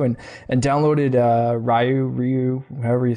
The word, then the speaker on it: Ryu: know playing around with I always said rayu when you click him when you click him on the game it goes Ryu and I'm like oh it's Ryu I've been saying it wrong my trying to change